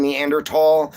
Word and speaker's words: Neanderthal: So, yeah, the the H is silent. It took me a long time to get used to saying Neanderl as well.